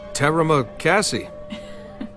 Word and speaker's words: terima kasih: Terima kasih. Actually, it's pronounced terima kasih.